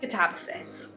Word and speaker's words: Katabasis: However, my fiance says Katabasis. I've seen people, I think Katabasis, like change the second syllable sound. Anyway, I watched this interview with R.F Kuang about the pronunciation, and she did say that she says Katabasis, but she also used to say it another way.